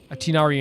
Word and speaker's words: Tighnari: Tighnari in Chinese, I think, is the way how you pronounce it.